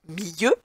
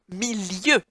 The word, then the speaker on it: milieu: Attention, I deux L se prononce lieu. Or, ce mot ne se prononce pas milieu, mais bien milieu. Donc pour bien entendre le L, il ne faut écrire qu'un seul L.